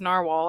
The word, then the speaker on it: Nahvalur: Oh, this is back when it was narwhal, actually, but it is now. Now called. They're still pronounced narwhal, they say, but their name spelling is changed to Nahvalur, um, which is the what is the language name for a narwhal?